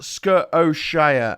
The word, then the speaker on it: Scotia: sk scotia is pronounced skuroshia as in nova scotia okay scotia i was